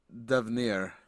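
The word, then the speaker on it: d'Avenir: Uh, Devnir. And she'll spell it for you.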